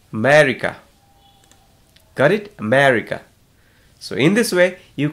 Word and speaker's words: America: Many of us, we say America. So when we type in Google and try to find the pronunciation, it says America. America. Got it? America.